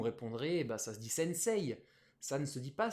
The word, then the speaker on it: sensei: quasi totalité des carreaux noirs des séries qu'on prononce pas sensei sensei mais pourtant on l'écrit sensei ei mais